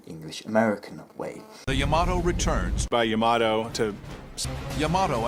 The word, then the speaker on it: Yamato: my dog so come here so it's pronounced by them Yamato you know that's what I prefer yato to